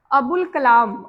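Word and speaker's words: ابوالکلام: मौलाना अबुल कलाम। अबुल कलाम जो हम लोग अ जैसे में किए थे ना रूल नंबर वन में जिसमें अल लाम की आवाज आई थी अलिफ साइलेंट था तो अबुल कलाम का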